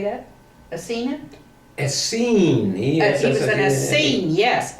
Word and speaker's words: Essene: Essene.